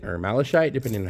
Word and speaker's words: malachite: these rocks sitting around uh this is called malachite or malachite depending on how you pronounce it and it usually has really cool